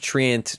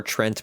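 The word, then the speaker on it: Treant: seeing a ton of Trant protector or Trent protector as I hear it pronounced incorrectly sometimes Nature's guys now applies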